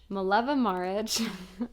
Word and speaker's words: Mileva Marić: Mileva Maric.